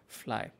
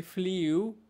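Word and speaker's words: flew: আচ্ছা, এইটার উচ্চারণটা আমরা অনেকে ভুল করি। আমরা বলি ফ্লিউ। ফ্লাই এর পাস্ট ফর্ম কী বলি? ফ্লিউ, but that should be ফ্লু। এটা মনে রাখবো, ফ্লু।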